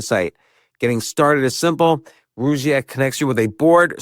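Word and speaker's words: Rugiet: But if you're looking for something beyond the usual pill, meet Rouette Ready. And Rouette is spelled R U G like rug and I t.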